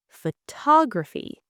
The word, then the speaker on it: photography: The stress is on tog. Photography.